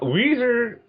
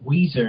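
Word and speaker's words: Ouiser: who I remember so even though it's it's spelled o u i s e r oh my God what are you sure a black person didn't write this oh it's still o i s e Weezer and her last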